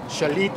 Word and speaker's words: Xalapa: leyendas somos la historia shalit y casi nos gustan a nosotros para pronunciarlo como debe de ser como es y terminamos en la